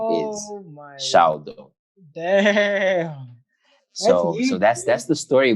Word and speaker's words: SHALdo: So just the gifts and purposes you have upon my life, tell me to go, tell me what to do, I shall do. Hence I spell it SHAL in caps, lowercase.